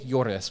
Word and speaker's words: lloras: So it's ¿por qué lloras? When you see two L's next to each other. It's a y.